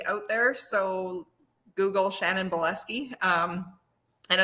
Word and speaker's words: Bileski: i'm the only shannon buleski out there so google shannon boleski um and it's spelled bile as in like and ski so like your spot ski bielski yeah um so shan